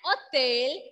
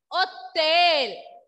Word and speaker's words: hôtel: So, in French, if your word is beginning with letter H, then H will be silent.